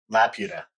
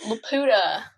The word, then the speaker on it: Laputa: Pokemon are from Laputa. Yeah. You gotta say it right. It's not. Wait. Laputa.